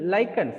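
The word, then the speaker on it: lichens: ஸோ லைக்கன்ஸ் ஆர் லிச்சன்ஸ் நம்ம pronounce பண்ணலாம், எப்படி வேணாலும் பண்ணிக்கலாம்.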